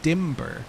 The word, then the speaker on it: Dimber: I think you're supposed to pronounce the B in Dimber, which makes Dimber Damber flow better.